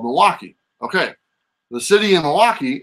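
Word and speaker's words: Milwaukie: the end it's uh it's pronounced the same way but the spelling is different so I'm obviously gonna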